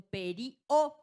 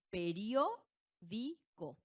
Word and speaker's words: periódico: Yo no digo perio, ¿verdad? Es periódico. Última, penúltima, antepenúltima.